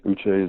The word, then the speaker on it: Uche: Is it Josh Uche? Yes, Uche is it.